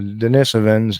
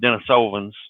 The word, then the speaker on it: Denisovans: the the latter groups DNA between the the Denisovans and the Neanderthals the DNA was discovered in